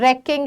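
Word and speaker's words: wrecking: जाएगा रेकिंग रेकिंग word रेकिंग है रवेज है रेकिंग का शुरुआत र से होती है डब्लू साइलेंट है ठीक है तो इन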